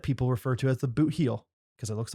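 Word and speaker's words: Bootheel: heel by the way i thought that people were just saying boot hill with an accent you would you know it's safe to assume that they're not pronouncing words correctly down there but that in that instance they are i'm near the blue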